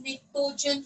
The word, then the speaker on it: pnictogen: But the spelling begins with P, pronounced as pnictogen family.